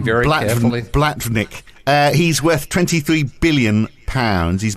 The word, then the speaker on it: Blavatnik: Can you pronounce that last name very carefully? Blavatnik.